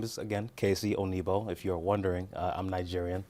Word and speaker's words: Onuigbo: Onuigbo. The G is silent.